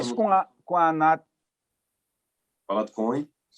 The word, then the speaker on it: Anat: A Nath.